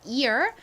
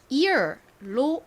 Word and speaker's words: ear: 개에 다시 한번 말씀드릴게요 Ear 그리고 에어를 기억해 주시면 됩니다 자 단어 중에서 ear이라는 단어가 있죠 아주 기본적인 단어 중에 하나인데요 이거는 2열 발음과 에어 발음 중에서 ear로 읽습니다 저희 신체의 한 부분이에요 어딜까요